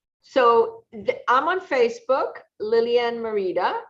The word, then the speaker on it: Merida: So I'm on Facebook, Lilianne Merida. It's spelled Lilianne, and it's Merida, like you pronounce it correctly. I hear this day. So Merida.